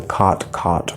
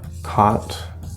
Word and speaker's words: cot: We have cot, C-O-T, and we have cot. Okay, and depending on if you have the cot merger or not, these will be pronounced either the same or different.